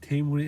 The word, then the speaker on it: Timur: By the way, the correct pronunciation of his name is the Timur, and he's a Persian guy like me.